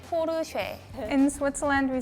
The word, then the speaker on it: Porsche: Volkswagen in German it's POR in German it's very important that the e at the end is spoken in Japan we say